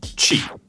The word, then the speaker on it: Qi: First off, Qi. It's spelled QI, and it's the wireless charging standard.